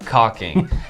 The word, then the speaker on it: caulking: are talking talking about caulking or if you're around a 13 year old boy maybe just really emphasize that silent l like caulking but uh some